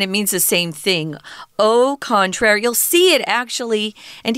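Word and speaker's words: au contraire: is French and it means the same thing o contrary you'll see it actually and hear it in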